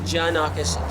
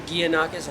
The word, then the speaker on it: Gianakos: But I pronounce it Janakis, just like Japan.